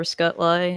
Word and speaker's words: Scootlay: My name is Scoot, also Scootlay, or Scutlay, as it's pronounced.